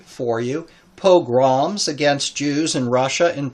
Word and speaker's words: pogroms: spelled correctly and it is I'm going to pronounce it correctly for you pogroms against Jews in Russia and Poland especially from